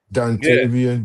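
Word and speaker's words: Dontavian: Dantavian, that's how you say his name.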